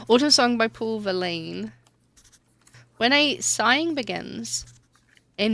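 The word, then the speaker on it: Verlaine: Autumn song by Paul Verline. Valain. Verlin. Everyone's saying it wrong. Autumn song by Paul Valain.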